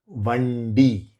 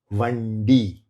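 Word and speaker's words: வண்டி: Secondly, surnames starting with hard D retroflex, not dental. These are pronounced by curling the tongue back to hit the roof of the mouth. The tongue hits the roof, not the teeth. Like the D in the Tamil word Vandi, Vandi.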